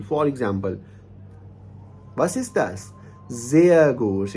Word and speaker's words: sehr: पहले लगे हुए हैं, अगर आर या ई आर किसी वर्ड के लास्ट पर आता है तो इसको हम आ का साउंड देते हैं. यानी कि आर को, अगर आर किसी वर्ड के लास्ट पे आएगा तो ये हमें आ का साउंड देगा. जैसे zum Beispiel, for example, was ist das?